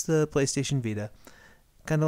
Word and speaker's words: Vita: saying it's going to be called the Vita which makes me think of Velveeta and that's kind of how it's pronounced a little bit like Velveeta like like the cheese yeah yeah so we'll